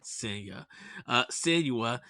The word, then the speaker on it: Senua: Even Hellblade 2, Sienna Saga, Senua. Senua. Sorry, Senua.